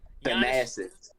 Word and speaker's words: Thanasis: Thanasis.